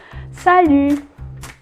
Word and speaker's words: salut: Salut. It's sort of like an ew, but the two vowels go together.